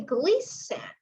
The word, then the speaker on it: glisten: So today we're going to talk about, for example, of the word, if it is in the middle, glisten, we say glisten. The letter T, it's silently, the letter T.